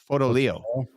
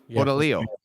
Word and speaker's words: Fotoleo: He says you got to say it like Fotoleo. Fotoleo.